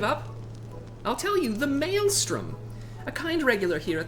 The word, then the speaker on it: Maelstrom: you a hint what begins with an M sound and rhymes with Alstrom give up I'll tell you the Maelstrom a kind regular here